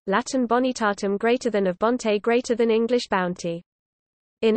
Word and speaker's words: bon: The nasal consonant was fully pronounced, bon was pronounced bon, modern French, b, nasal vowels were present even